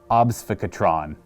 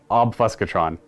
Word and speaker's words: Obfuscatron: He's going to have the Prismatic Obfuscatron. It's supposed to be like obfuscation, but it's like Obfuscatron.